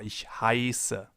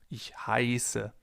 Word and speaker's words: heiße: If we have a sharp S, the vowel sound before the S is long. For example, in Straße, Straße, or ich heiße, ich heiße. The vowel or diphthong in this case is pronounced long, Straße.